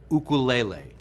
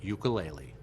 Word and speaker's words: ukulele: To appreciate the history and cultural roots of this beautiful instrument, let's first clarify that the Hawaiian pronunciation is "oo-koo-lay-lay." Many people now pronounce it "you-kuh-lay-lee."